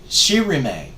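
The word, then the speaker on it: Shirime: I went you know I bet that's pronounced she remain and when I went to the Japanese turn on translation thing on that and hit the pronunciation it was she remay just like I had done with my language there so yeah a lot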